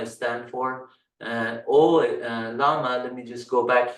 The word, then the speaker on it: Llama: one it just says llama stand for large language model meta AI. So um uh you can see the L is silent but uh llama is stand for large language model AI.